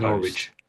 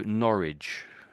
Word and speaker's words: Norwich: So, Norwich. Norwich. So, the W you could say is silent really.